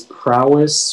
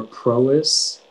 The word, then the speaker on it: prowess: this word yeah so uh the word is prowess or pro-is it's a noun and it comes from middle